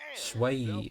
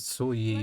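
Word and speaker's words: Xueyi: and Shui Yi. Okay, that's how you pronounce it. Well, that's how they pronounce it. We're just getting warmed up. I pronounce it Sui Yi, Let's but take a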